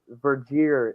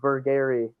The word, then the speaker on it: Vergier: So, that makes sense because it's been several dozen times that Vergier in particular. I know people who have absolutely been screaming about Vergier's pronunciation is not Vergary.